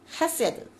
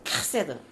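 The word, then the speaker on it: חסד: 히브리어로 헤세드 또는 이 카트가 들어가서 카세드 이 제일 어려운 게 카트 발음인데 카세드 카세드 예 페이버 왜 있잖아요.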